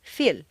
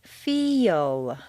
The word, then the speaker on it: feel: a word like feel if you say just the letters that you see it will sound more like phil or phil you need to say feel is that really a